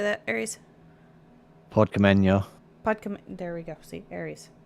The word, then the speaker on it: Podkamennaya: Podkamenya.